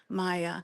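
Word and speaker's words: Maija: So just Maya is also from Norway. Yeah. Yeah. And her name is actually spelled M I A J A. Maya, but she writes it M A Y A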